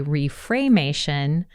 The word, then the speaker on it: Reframation: You'll hear me say reframation, probably because I keep slipping into reframation. And I thought I said it wrong. I thought I was saying it wrong. Right. No, it is Reframation, which is cool because